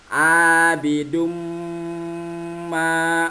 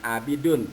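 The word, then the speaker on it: عَابِدٌ مَّا: Cara membacanya dilengkungkan. Abidum ma. Nah, abidum ma, jangan abidun tapi abidum ma.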